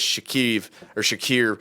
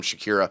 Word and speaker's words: Shakir: desk, his name was Shakir. I don't know. He said his name's like Shakira without the A, but I kept getting too drunk to say his name properly, so I just called him Shakira.